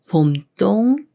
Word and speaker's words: 봄동: 음식인 겉절이로 많이 쓰여요 이렇게 미음 히 초성 디귿을 만나면 쌍디귿 수린 뜨로 바뀌면서 봄 똥이라고 읽 거요 봄똥 봄똥 예문 읽어 볼게요